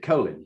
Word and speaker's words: Colin: as well, General Colin Powell, or as he pronounced it, Colin, but it's actually an English name, which is